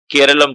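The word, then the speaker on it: കേരളം: तो नाम should be केरलम, ना कि केरला।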